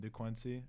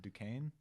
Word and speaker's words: Duquesne: a higher level than DeQuincy. Or is that's not how you say it. Is it Duquesne? It's Duquesne. Yeah, sorry, Duquesne.